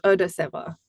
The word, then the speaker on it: Odaseva: So I hope that clears things up a little bit better for everyone, and it's pronounced Odaseva.